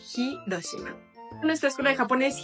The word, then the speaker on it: Hiroshima: Y entonces por eso palabras como Hiroshima sí se dice la H Hiroshima en nuestra escuela de